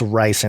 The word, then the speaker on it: ricin: Oh, it's ricin. Okay, I knew I was going to say it wrong.